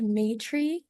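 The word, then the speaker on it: Maitri: Yeah, it's pronounced Maytree, and I'm a student at Georgia Tech, so I'm in Atlanta right now. Fantastic. And where are you in your application process, Mitri?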